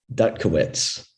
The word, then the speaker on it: Dutkiewicz: right is it adam is it pronounced dukawits or duckowitz gutkowitz duck kowitz okay guys and behemoth uh